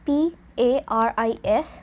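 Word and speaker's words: Paris: we have first one p-a-r-i-s and it is pronounced as Pari so here we have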